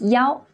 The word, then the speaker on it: 幺: So when we're giving phone numbers, this number 1 is often pronounced as 幺.